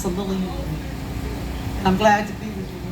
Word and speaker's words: CeLillianne: poster out there so my name is pronounced so lillian i'm glad to be